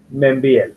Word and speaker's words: Meinvielle: ¿Cómo se dice Membiel? Membiel, sí. Membiel. Francés, ¿no? Ah, qué francés, sí, Membiel.